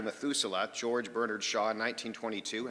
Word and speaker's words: Methuselah: back to meth metha I'm mispronouncing that methusa back to Methuselah George Bernard Shaw in